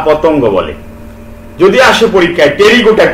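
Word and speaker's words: Pterygota: এবং উদর sub class টেরিগোটা দেখো টেরিগোটা পি এর উচ্চারণ হবে না আমরা জানি নিউমোনিয়ায় পি এর উচ্চারণ হয় না সাইকোলজিতে পি এর উচ্চারণ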